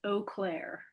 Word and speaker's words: Eau Claire: Uh no, but we have it is pronounced Eau Claire.